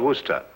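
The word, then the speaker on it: Worcester: else too doc but it's spelled w-o-r-c-e-s-t-e-r we're sister oh yes i see yes lord wooster mm-hmm this might be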